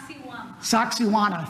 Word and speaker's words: Sacsayhuamán: It's Sacsayhuamán. Thank you. Thank you. Yeah, Jennifer's been there. Right, Sacsayhuamán.